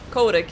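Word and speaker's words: Kotick: for the longest time he actually pronounces his name coding codec yeah i thought it was chaotic it's codec like a co-op dick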